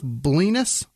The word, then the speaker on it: Blenis: Robert Haynes, Jessica Manor, Joseph Blenis. Okay. It's probably Blenis. Blenis. Right, but it's spelled like penis with blow. Well, that's all right. It's Blenis. Penis.